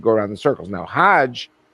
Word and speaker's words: Hajj: around the circles now Hajj is a pilgrim to Mecca hag is the Egyptian pronunciation hug in Hebrew means